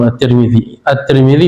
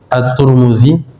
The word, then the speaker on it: At-Tirmidzi: Wali Tirmidzi, dan bagi At-Tirmidzi, Imam At-Tirmidzi bisa dibaca At-Tirmidzi, At-Turmudzi, dua-duanya boleh.